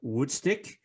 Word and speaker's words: Wudstik: The sound showcases a broader side of Dilemma, louder, faster, more technical, more progressive, with new frontman, Jermain Bogt, or Wudstik, as the band pronounces his nickname.